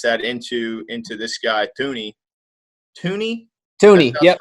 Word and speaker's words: Thuney: Tooney, yep, it's Tooney. Joe Tooney, yep. Because it's spelled like Thuney. Right, but it's Tooney. Okay, Tooney.